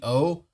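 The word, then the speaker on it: Zi-O: So interesting thing about his name is that the Z and the I in Japan is done with the J sound, like the J sound. So instead of being Z-O, it's G-O. It's G-O, like that.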